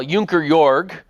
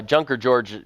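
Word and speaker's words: Junker Jörg: George uh yeah well junker yor uh junker George would be of course the English way to pronounce it um it means Squire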